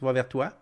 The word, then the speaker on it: Va Vers Toi: donc va vers toi comme ça s'écrit he comme ça se prononce va vers toi il y a pas de a pas de s nul part là va vers toi